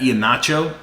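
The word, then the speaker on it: Iheanacho: those guys under wraps um recently they've had ian nacho uh that's how you say his name yeah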